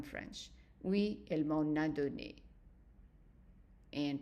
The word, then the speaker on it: donné: And donné, make sure that you don't pronounce the A longer. It's just short A.